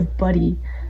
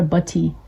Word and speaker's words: butty: We don't pronounce our T's really well here, I've noticed. So, like, we would just say a buddy, not a butty.